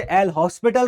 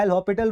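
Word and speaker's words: L'Hôpital: कई लोग इसे "एल हॉस्पिटल" नियम कहते हैं। यह "एल हॉस्पिटल" का नियम नहीं है। " एल'हॉपिटल का नियम" इसका सही उच्चारण है।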